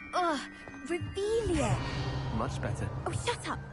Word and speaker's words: Revelio: Revelia! Saying it wrong! Ugh, Revelia!